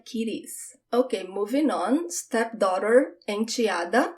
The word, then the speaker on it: enteada: Stepdaughter, enteada. And it could sound like enteada, different pronunciations.